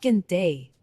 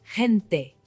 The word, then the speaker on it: gente: It's not gente, it's gente.